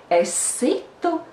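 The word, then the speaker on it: es situ: The stress is on the second syllable or on the first syllable of the second word.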